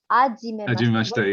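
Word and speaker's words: はじめまして: words completely wrong, because they don't say the H. Right, yeah. Hajimemashite, yeah. Without the H. It's like, no, it's more like ha. You need to say that ha.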